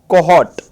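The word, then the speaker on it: cohort: Next word देखिए बच्चे, कोहॉट। आर O silent रहता है, कोहॉट।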